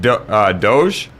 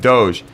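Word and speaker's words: Doege: Seth Doge, I think that's how you say it. Seth Doge.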